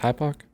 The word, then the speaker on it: hypoc: Is just hypoc?